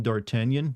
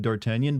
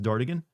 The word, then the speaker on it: D'Artagnan: and I landed on D'Artagnan, but I didn't know how to spell it or say it correctly, so I just wrote it as Dartigan and said it that way in my head.